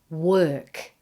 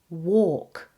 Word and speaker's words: work: We have the words cork and then work. And it's so common for non-native speakers to pronounce the word work more like walk. So you need to check that you're not doing this.